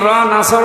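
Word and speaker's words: نصر: সাহায্য আর নুন সিন নাসর মানে কি পাখি আপনি যদি মুখটা গোল করে শুদ্ধ করে উচ্চারণ না করেন আকাশ পাতাল পাল্টিয়ে যাবে আল্লাহ পাক বলেন নবী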